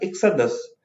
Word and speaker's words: exodus: इसकी प्रोनाउंसिएशन में ध्यान दीजिएगा, एक्साडस, ठीक है।